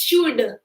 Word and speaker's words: should: It's should. L is silent.